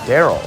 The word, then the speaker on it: Daryl: I'm now getting word his name's actually Daryl. So it's Darrell Michelle is how he wants it pronounced.